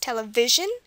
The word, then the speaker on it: television: It's on the second from last, television.